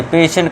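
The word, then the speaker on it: patient: देखिए पहला एग्जाम्पल है, अब देखिए पेशेंट का है। देखिए टी के बाद क्या आई ई आ गया, हाँ आ गया, तो इससे क्या देंगे हम, श का उच्चारण, उससे पढ़ेंगे हम पेशेंट।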